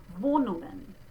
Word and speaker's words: Wohnungen: And that next sound, notice that it's but not ng. I don't put the hard G sound after it. They don't do that. Wohnungen.